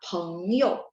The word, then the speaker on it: 朋友: Jadi P bacanya PH ya, misalnya ketemu 朋友 saya suka bilang P baca PH 朋友 teman ya.